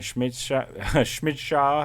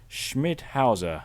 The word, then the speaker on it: Schmidhauser: And then Schmidschauer, I don't know, Schmidschauer, something like that. I don't know. Puts it through. Pivato scores. Schmidhauser is how that's meant to be pronounced.